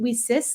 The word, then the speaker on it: WiCyS: acronym wi Ys and we pronounce it we sis like we sisters because that's exactly what